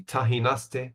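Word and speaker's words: Tajinaste: So I could recommend any kind of white or or even red from the Tahinaste vineyard. The Tahinaste which is spelled Tajinasti, the El Marquez.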